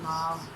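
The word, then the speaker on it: 猫: In Chinese we say Mao, but in English we say cat.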